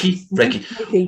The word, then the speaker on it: Reiki: Did I pronounce that correctly? Yes. Reiki.